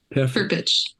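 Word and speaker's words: Perpich: Um, previously Jillian had studied media arts at the Peric Center. I'm pronouncing that right? Perich center for arts education and cinematography and fine art at Minneapolis College.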